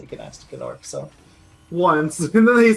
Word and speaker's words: Gnasty Gnorc: I mean, so did Gnasty Gnorc, to be fair.